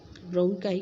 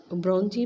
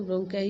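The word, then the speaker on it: bronchi: तो वैसे इसको ब्रोंकाई इसको कहते हैं, लेकिन इसको कई लोग ब्रोंजी भी कहते हैं। ठीक है, तो मैं इसको ब्रोंकाई ही कहती हूँ, और ब्रोंकी भी कई लोग इसको कहते हैं।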